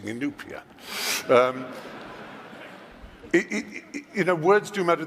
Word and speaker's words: Inupiat: it's obviously easier for you because you keep mispronouncing Inupiat you know words do matter the just then